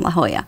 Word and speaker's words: La Jolla: about 10 minutes from la jolla looks like jawa to the native english he's going to ask what's the mismatch yes la jolla it is a beautiful